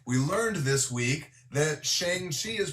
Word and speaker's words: Shang-Chi: And by the way, we learned this week that Shang-Chi is pronounced Song-Chi.